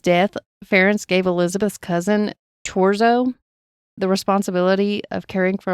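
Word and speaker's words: Thurzó: Okay, and this name is Turzo, but when I listened to it, they said Torzo. So I'm going to assume that's how it's pronounced. When I was reading it, was thinking Thurzo, but it's spelled Thurzo. Okay. Yeah. Thurzo is how I'd have said it.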